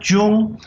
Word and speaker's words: 中: first character after the dot is pronounced jung it's the character that